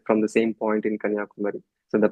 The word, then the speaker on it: Kanyakumari: You can see the sunrise and sunset from the same point in Kanyakumar. So the pronunciation is Kanyakumar.